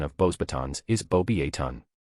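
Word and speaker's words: Beauxbatons: The pronunciation of Bosebatons is bobbyon. The X and final S are silent in French and the O is pronounced like the O in boat.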